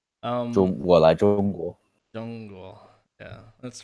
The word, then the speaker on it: 中国: I still pronounce the ZH thing, fucking like CH. 我来中国. Zhongguo.